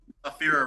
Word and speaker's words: Ephyra: Afira Records. Spell that.